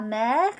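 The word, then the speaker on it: mère: on dear the sea say la mer not to be confused with la merc which sounds exactly the same actually for the mother okay we'll saw it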